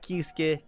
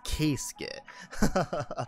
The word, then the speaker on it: Keisuke: yama nami que skid not kisuke kit i know i pronounced it wrong during the gotcha rolls but it is case skit i know a lot